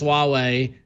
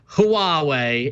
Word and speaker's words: Huawei: first answer it says although the Mandarin romanization is normally pronounced Huawei Hwa - waa why